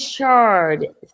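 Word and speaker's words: Schardt: of these I am hey his name is Shard c h a r d t the S is silent it's not it's like a the see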